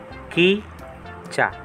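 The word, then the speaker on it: 기차: Ito po yung C H naman po ang ibig sabihin nito. C H. Ito na po yung A. Kitcha.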